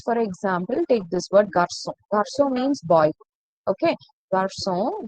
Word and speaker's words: garçon: So I will pronounce this as garcon, but I don't want that K sound. I want the S sound. So I'm using the sedil. So if sedil is there, it is understood you should pronounce this with a S sound. So you will pronounce it as garçon.